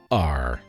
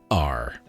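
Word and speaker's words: D'ar: Dar. You have to say it like that because there's an apostrophe. So Dar.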